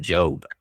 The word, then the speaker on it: JOB: events with, Job, as we like to call him. Is that how you say it, Job, or do you say the Joe? J-O-B, usually just the J-O-B. just the letter J-O-B, but I'll answer to pretty much anything.